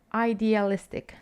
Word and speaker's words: idealistic: joking the next one be careful with the next one is pronunciation idealistic comes from idea idealistic if you describe someone